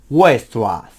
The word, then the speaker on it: Weierstrass: Sí, no, es que se pronuncia súper raro, es Weierstrass.